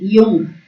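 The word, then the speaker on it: Jung: मनोवैज्ञानिक प्रकार से मतलब मनोवैज्ञानिक युंग, जिसको हम युंग को बहुत लोग जंग भी बोलते हैं, इनको इनका स्पेलिंग है जुंग भी बोलते हैं।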